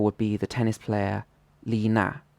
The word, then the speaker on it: Li Na: Another example would be the tennis player Li Na. So in Chinese, this is pronounced with a third tone, then a fourth tone, Li Na. So this would be the correct way to say it.